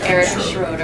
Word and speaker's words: Erica Schroeder: Next to him, we have, you gotta give me the proper pronunciation. Erica Schroeder.